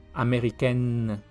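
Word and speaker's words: américaine: no sale larga y los femeninos se pronuncian casi igual pero con una n más larga y una n normal Por así decirlo sería la la lengua tocando los dientes o el palar de arriba mexiquen ameriken afriken marquen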